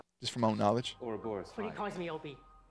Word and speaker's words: Ouroboros: Ouroboros. See, I knew I said it right. Ouroboros. Nice to meet you, Loki. Nice to meet you, bud. Ouroboros. I just didn't pronounce the S at the end.